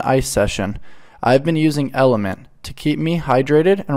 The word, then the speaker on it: LMNT: utilize on the day-to-day lmnt pronounced element is a tasty electrolyte